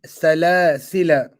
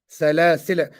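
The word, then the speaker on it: سَلَاسِلَا: Okay, some pronounce it with a mad for the duration of two vowels, whilst others pronounce it with a sakoon.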